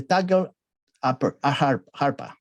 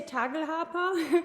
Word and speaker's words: Tagelharpa: say Tagal arpa, the Tagal harpa, right? The instrument, the Tagal harpa, the Tagal harpa. How do you say it? Bianca? We say Tagelharpa. Tagelharpa.